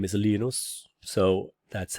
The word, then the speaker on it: Linus: His name is Linus. So that's how you pronounce Linux, right?